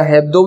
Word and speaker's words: Hebdo: नाम था हाराकीरी हेब्दो, या हेब्दो भी बोल सकते हैं या एब्डो भी बोल सकते हैं, दोनों ठीक है प्रोनाउंस में।